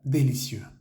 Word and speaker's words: délicieux: La EUX al final de délicieux se pronuncia E. Délicieux, con la boca un poco cerrada. Délicieux.